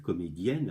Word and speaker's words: comédienne: Un E devant deux N se prononce et. D'accord. Alors attention. Et donc, en l'occurrence, là, je vois dans le livre comédienne avec deux N, pas de problème.